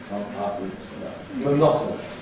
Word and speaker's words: monotonous: Now “monotonous” Not . weakens to .